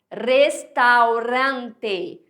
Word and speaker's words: restaurante: Restaurante. Restaurante. Tá vendo? O Azinho não é restaurante. Ó, eu tô forçando, óbvio, né? Mas é para mostrar como no português a gente nasaliza.